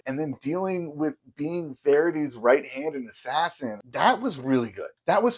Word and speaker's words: Verity: book, and that is Verity's. Or or sorry, Verity. My wife gets really mad that I keep saying Verity's. Like, yes, whatever. I don't say his name exactly correct.